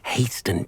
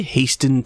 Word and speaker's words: hasten: So, unfortunately, unless you have a way to hasten time, you might sometimes have to wait until nightfall to see them. Did he say hasten time? I think the T is silent, big guy.